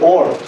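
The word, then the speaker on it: Oort: entonces la nube de ort la nube de or que se escribe con doble o se llamaba Jean or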